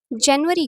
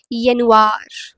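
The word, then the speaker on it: Januar: जैसे कि यहां पर आप एग्जांपल में देख सकते हो जनवरी को जर्मन में हम क्या बोलेंगे? दिस दिस इज़ नॉट जनवार इट्स यनार यनवार।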